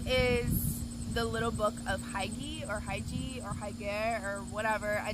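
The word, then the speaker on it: hygge: It's pronounced Huga.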